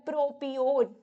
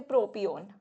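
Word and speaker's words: propion: अजीब सी प्रोनाउंसिएशन है, मुझे नहीं पता, कुछ लोग इसको प्रोपायोन भी बोल देते हैं, बट दिस इज वैसे प्रोपियोन।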